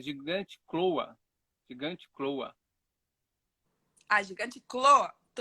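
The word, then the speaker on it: Gigantochloa: É gigante cloa. Gigante cloa. Ah, gigante cloa. Gigantloa. Isso, gigante cloa.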